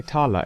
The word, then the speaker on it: Thaler: I don't understand why they say Tala. It's spelled Thaler. So why do they just drop the H?